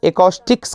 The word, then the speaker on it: acoustics: एकॉस्टिक्स कहा जाता है उसको, समझे?